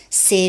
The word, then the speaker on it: c'est: C'est génial.